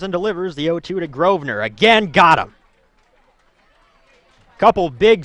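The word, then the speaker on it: Grosvenor: outside corner it's pronounced groer silent s which is bizarre but we'll take the kuit kers announcers word for it grer so groer in for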